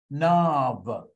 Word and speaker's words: NAV: I told you yesterday we should be pronouncing us nav and if you can